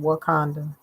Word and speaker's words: Wauconda: So as you can see, this Wakanda is spelled Wauconda. They have various spellings, but they all are pronounced the same, Wakanda.